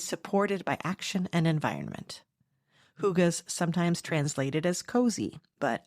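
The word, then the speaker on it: hygge: in text it looks like higgy but it's pronounced Huga it's about slowing down being present and enjoying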